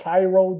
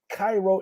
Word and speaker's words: Cairo: They said, it's not Cairo, it is Cairo. I said, yes. And then I just stopped. I said, whatever. Yeah, so they pronounce it Cairo.